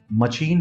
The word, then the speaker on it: machine: नहीं दूसरा word champion है, नहीं तीसरा वर्ड मशीन है, और नहीं चौथा वर्ड शिकागो है। इट्स not like. इन सारे वर्ड्स में CH का सही प्रोनाउंसिएशन श है।